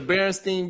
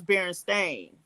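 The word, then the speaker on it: Berenstain: about kids bu the barenstein Bears is it barenstein or Baron Stein do you remember uh I remember it being Baron Stein but apparently it was Baron stain so or maybe it's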